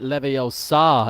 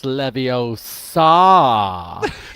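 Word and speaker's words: Levosa: God an eight-point lead it's not Lev OA it's levo saw that's how you correct yourself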